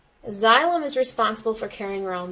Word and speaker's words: xylem: plants is called xylm I know it starts with an X but it's pronounced with a z xylem xylem is responsible for carrying